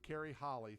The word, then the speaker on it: Carrie Holle: And today we are extremely excited to have a huge real estate guru, Carrie Holle. Thanks so much for joining us. Thank you. Thanks for having me. Did I pronounce the name correct?